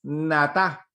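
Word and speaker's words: נטע: Y la palabra hebrea que se traduce por plantar es natá, así como usted lo escucha pronunciar, N-A-T-A, natá es la palabra.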